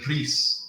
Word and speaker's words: Rhys: Actually, in Wales, they would say Rhys, which you'd have no chance of saying.